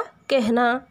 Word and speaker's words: कहना: तो ह से पहले एकार का उच्चारण आ जाता है। तो कहना, इसका उच्चारण कैसा होगा? कहना।